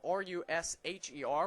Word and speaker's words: Rusher: It's spelled R-U-S-H-E-R. Was talking to their general manager earlier today, and the way that Bo explained it to him was that it's like push. So Bo Rusher and not Rusher.